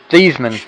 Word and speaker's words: Theismann: tidbit about Theismann was that's not even how you pronounce his name. Thiesman. You remember that story, right? In Notre Dame, his name was Thiesman, but they changed it for his Heisman run.